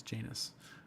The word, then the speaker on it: Janus: Dan says, Cleveland Moto has a great podcast, but they pronounce it Janus. Someone should correct them. Well, technically, that's how it's pronounced in England. The English pronunciation is Janus. There you go. But yes, it is Janus.